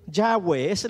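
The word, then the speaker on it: Yahvé: el que seré le está diciendo diles que ya ves la pronunciación ya ve ya ve el que existe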